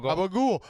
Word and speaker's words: gabagool: You had to say it right. It's gobble. Gabagool.